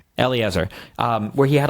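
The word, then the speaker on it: Eliezer: Elliot Eiser was how do you pronounce his name? Yeah. Eleazar. Eleazar.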